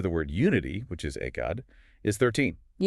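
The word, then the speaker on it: 愛: He points out that if you want to write the Japanese kanji for love, which is pronounced a 18, right? Ai, ai, you must use exactly 13 strokes.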